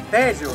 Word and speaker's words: Teseo: Teseo, l'accento è sulla prima sillaba!